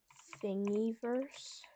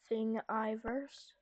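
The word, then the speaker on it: Thingiverse: It's called thingyverse spelled like that. Thing Iverse.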